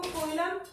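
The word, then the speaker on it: coelom: So इसका pronunciation करते time आप इसको कोइलम भी बोलो मतलब बोल सकते हो, बट एक्चुअली इसका जो प्रोनाउंसिएशन है that is nothing but the Seelam.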